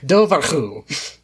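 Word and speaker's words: dobhar-chú: mainstream you've got the i looked up how to pronounce it properly let's see if i could do it it's the dovahku which is just an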